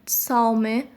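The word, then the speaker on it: 草莓: जो सी है साओ में उसको टी एस की तरह प्रोनाउंस करते हैं साओ में।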